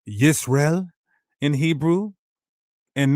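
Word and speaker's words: ישראל: Transliterates the sound Yisrael. Not Yashar'el. And with the hieroglyphs, it could have came close to Yashar'el.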